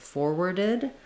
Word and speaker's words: forwarded: Then when we add the ed to make it forwarded, we just add an I and a D sound, forwarded. In that case, you can think about it like forwarded.